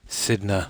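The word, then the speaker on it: Cidhna: in our name all from inside sidna M sidna that's how pronounced the irony is thick you mentioned an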